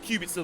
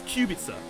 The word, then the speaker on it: Kubica: I keep going to put the wrong emphasis on the syllables in Robert Kubica's name. I'm still doing it. It's Kubica, not Kubica.